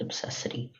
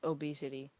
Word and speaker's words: obesity: Lemuel, I just want to say that it's obsessity. Oh, shoot. It's not obsessity, it's obesity. Is it really?